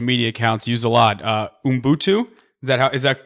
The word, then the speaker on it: Ubuntu: So a word that I see you and your social media accounts use a lot, Ubuntu. Is that pronounced correctly?